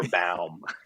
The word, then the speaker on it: Baum: It's just been yankified in a way so that Yes. it ends up being pronounced Baum instead of the proper Baum.